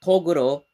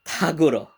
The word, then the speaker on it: Toguro: rather was the younger toguro or the togoro brothers but for some reason they are probably a mispronunciation that kinda stuck for the entirety of the dub they became kaguro although uh it is